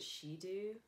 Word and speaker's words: Shidu: voice amplifier and it's i think you pronounce it she do it's a voice amplifier